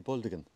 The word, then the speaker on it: Bulgaden: over that direction and when local people say Bulgarian it's spelled b-u-l-g-a-d-e-n but they say baldigan the D comes before the G and the only